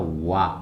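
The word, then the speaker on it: わ: Cara bacanya wa ya.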